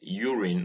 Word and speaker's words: urine: in india this is urine not urine or urine as some people say this is urine with stress on the first syllable and once again here